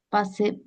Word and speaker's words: pas: La única corrección es el pa, acá no se pronuncia la S. Il ne veut pas tout Ujú, faire.